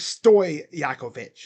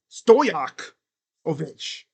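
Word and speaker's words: Stojaković: I don't know why, but I always used to say his name is Stoy Yakovich. It's Stoyak. Stoyakovich. Stoyakovich. I always thought there was like a Y in there.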